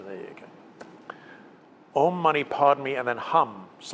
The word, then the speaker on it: Padme: Technically, you pronounce it a little bit differently, but let's just go with cash. So Om, money. Padme is probably the hardest word of the lot.